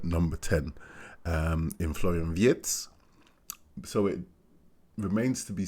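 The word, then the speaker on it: Wirtz: sort of understudy for Vietz. Uh yes, I am saying it in that way because I believe that is how it should be pronounced.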